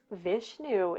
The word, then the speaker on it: Vishnu: don't um i don't know why but um vishnu is all like hey hey hey so um